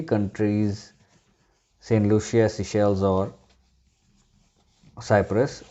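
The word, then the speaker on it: Seychelles: इसे सेलिशेल्स नहीं कहते, इसे सिशेल्स कहते हैं।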